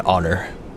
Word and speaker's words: honor: Also, I feel like it's even though it's technically a honor, it's an honor because the H is silent.